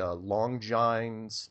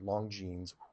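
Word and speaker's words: Longines: get it watch the long joins oh I'm sorry long jeans pronounce that wrong long jeans Cronus cope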